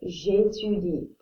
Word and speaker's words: j'étudie: This means I study, and we pronounce this j'étudie.